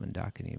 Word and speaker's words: Mandakini: Well, I believe it's pronounced Mandakini, but in any case, however you want to pronounce it.